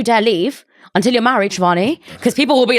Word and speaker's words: Shivani: How do I pronounce your name? Shivani.